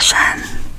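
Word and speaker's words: 山: nên cái này có nghĩa là núi và phát âm là Shan Shan nó là shan nó phát âm là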